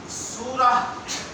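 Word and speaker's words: سورة: माशाला अरबी जबान में सूरा सूरा स्वाद वाला सीन वाला नहीं स्वाद वाला अगर इस ता को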